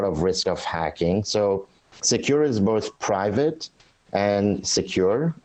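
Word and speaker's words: Sekur: us why great well secure which is spelled s-e-k-u-r is our email and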